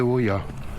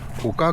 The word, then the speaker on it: Oca: C'est Villafranca Montes de Oca et pas de Oia. Oka comme les... Alors c'est pas là qu'ils fabriquent les chaussures de trail ni rien. Hein. Voilà, c'est pas ici. Hein. Oka, ça s'écrit OCA.